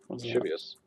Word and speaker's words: lascivious: I want to know how to pronounce that word right there. Lascivious. Lascivious.